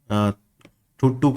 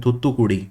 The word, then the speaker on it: Thoothukudi: Now I used to always pronounce this as Thuttu. I don't know how I pronounced it earlier. But recently I was watching the videos of Annamalai, the BJP leader who is trying to do something for the BJP in Tamil Nadu. I was watching his videos and he mentioned Thoothukudi. So I think I'm pronouncing it correctly now.